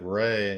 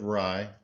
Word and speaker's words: Rye: I was calling him David Ray until I saw the pronunciation. So David Rye, tight ends coach, 43 years old, played his college ball at Iowa as a quarterback.